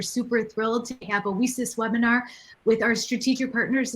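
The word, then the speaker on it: WiCyS: by our acronym lisa's w-i-c-y-s pronounced recess like we sisters because that's exactly what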